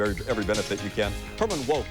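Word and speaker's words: Herman Wouk: every benefit you can Herman woke is how that name is is usually pronounced that was a little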